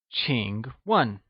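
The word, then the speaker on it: 请问: new words we learned Ching is pronounced with the falling rising tone and starts with a sound whereas 1 is pronounced in the falling tone let's hear you say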